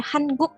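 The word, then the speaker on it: 한국: juga jadi hangguknya juga jadi hangguk ya sem betul karena n ketemu G Ya bukan hangguk hangguk gitu walaupun ee teman-teman akan mungkin Mendengar orang Korea nyebutnya hanguk gitu ya berarti mereka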